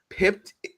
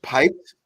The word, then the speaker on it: pipped: all time I was pipped to the top spot by my co-star Superman it's piped but I know that I was saying it wrong pipped in 2011 IGN 2011